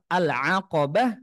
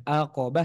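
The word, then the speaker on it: العقبة: yang ke1 sama qah lafaz alqabah harus menggunakan Ain yang jelas jangan sampai e serupa dengan huruf hamzah aqobah salah alqabah harus dijelaskan ainnya wqabah F raqabah tak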